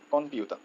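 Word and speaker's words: コンピューター: অর্থ ক্যামেরা 28 নম্বরে কম্পিউতা কম্পিউ কমপিউতা এখানে কিন্তু ম নেই এখানে ন লেখা সো এই নটাই ম এর মত উচ্চারণ হবে কম্পিউতা ঠিক আছে তারপরে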